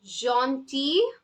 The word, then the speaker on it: gentil: So, gentil, gentil, T, L is silent.